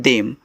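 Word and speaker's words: them: टी एच ई एम को पढ़ते हैं देम। तो टी एच यहां पे द बनाएगा। ई से ए की मात्रा एम से आपका म ए हो गया देम टी ओ टू तो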